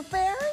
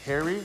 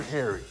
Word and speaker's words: Pherry: where isy there counselor fairy it's actually uh pronounced Harry Taylor Harry the p is silent got that Mary yes